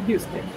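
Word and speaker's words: Euston: I thought it sounded like Houston, Texas, but it's not. It's, you see that? E-U-S-T-O-N. But when it's pronounced, it's pronounced like Houston.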